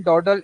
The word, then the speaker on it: dawdle: In this, the O in dawdle is pronounced like O in got.